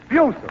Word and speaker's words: Buser: Buser. Well, I spelled it correctly. I probably mispronounced it.